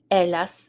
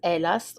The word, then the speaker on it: hélas: matin-là, on that morning, hélas. So the H is silent, hélas, or malheureusement.